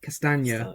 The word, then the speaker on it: Castagna: Castagna. Castagna. There you go. It's like lasagna. That's how you say it. Like lasagna. Maybe I'll just call him lasagna from now on.